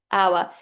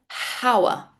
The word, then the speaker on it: hour: And our. This H then is completely silent. Do not say hour. It's our. Exactly the same as this one. Our and our.